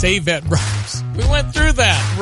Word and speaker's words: Avett: Somebody just texted in and said it's Avett Brothers.